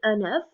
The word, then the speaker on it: œuf: If it's one, we say un œuf, and we hear the F.